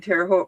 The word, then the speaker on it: Terre Haute: I think you I think when I went to the one in Terre Haute rhymes with both they gave us all a little bag that had like three or four in it.